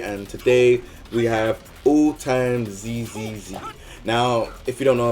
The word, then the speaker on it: AllTimesZZZ: AllTimesZ or AllTimesZZZ? I think it's AllTimesZZZ. So okay, yeah, whatever. I don't know how you say it. I'd say AllTimesZ, like as in Z, AllTimesZ.